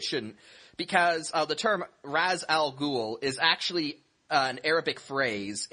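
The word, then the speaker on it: Ra's al Ghul: ghoul no it shouldn't because uh the term Raz Al ghoul is actually an Arabic phrase it means uh Demon's head and the term in Arabic is pronounced Raz Al ghoul not re re was just something they did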